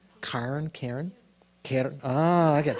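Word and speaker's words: cairn: Not Karen like the girl's name. C A I R N. Karen.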